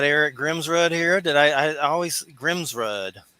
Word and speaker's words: Grimsrud: I always Grimsrud? I said it right, right? Yeah, it's Grimsrud, but Grimsrud. nobody ever wants to say rude, so they always say Grimsrud.